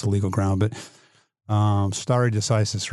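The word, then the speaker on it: stare decisis: Well, I mean president's a legal ground, but um star decisis, right? Am I pronouncing that right?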